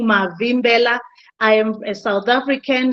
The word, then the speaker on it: Mavimbela: I hope you are able to pronounce that. My name is Mavimbela.